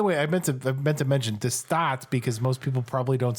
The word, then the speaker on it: De Staat: By the way, I meant to mention de Staat because most people probably don't speak Dutch. It's spelled DE space STAAT.